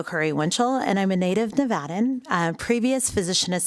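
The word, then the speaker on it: Curry-Winchell: you for your time foreign I'm Dr bio Curry Winchell for the record I'll spell it it's quite long so bear with me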